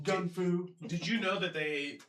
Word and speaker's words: gun fu: It's pronounced Gung Fu. Gun fu.